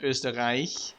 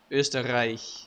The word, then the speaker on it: Österreich: You have the sound, Österreich, which is super hard for a lot of cultures. Plus you have a super hard R, right? Österreich.